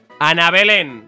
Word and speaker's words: Ana Belén: Ana Belén. Ana Belén. Pum, tal cual, ¿eh? Ana Belén. Con acento en la E. Ana Belén, ahí está.